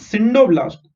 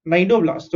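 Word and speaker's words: cnidoblasts: सो इट has tentacles which with syndoblasts, sorry, not syndoblasts, nidoblasts. Okay, C is silent over here, right?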